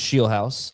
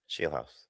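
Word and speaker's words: Scheelhaase: Jamie, it's pronounced Sheelhouse. I knew that. I don't know why I didn't say it. Sheelhouse.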